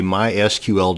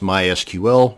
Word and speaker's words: MySQL: This video is going to show you how to create a MySQL database. And yes, it's pronounced MySQL, not MySQL.